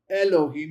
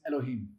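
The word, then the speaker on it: אלהים: So it's not Elohim, it's Elohim. I'll do that for you again. It's not Elohim. If you say Elohim, it's not pronounced right. It's Elohim. So it's shorten that beginning, make it brief.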